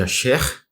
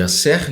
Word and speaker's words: Aser: O que tem a ver a tribo de Asher, ou de Asser, na nossa pronúncia, do português, com Jesus, com Machia?